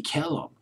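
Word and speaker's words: Killen: It was recorded by a guy named Buddy Killam. Killam, K-I-L-L-E-N. Buddy Killam, I believe, is how you pronounce his last name.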